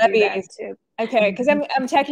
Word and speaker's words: Levi's: But you know, The one of Europeans call it levies, so you can do Levi's.